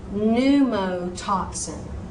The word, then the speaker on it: pneumotoxin: So, pneumonia, pneumonia, pneumotoxin, pneumotoxin.